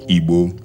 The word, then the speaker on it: Igbo: people the forest people it is pronounced EBU in Yoruba accent the descendants of the